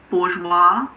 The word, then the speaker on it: bourgeois: Unfortunately, there aren't really any rules here, but luckily there aren't that many words that have a silent S. Some of the most common ones are aisle, bourgeois, debris, island, and aisle.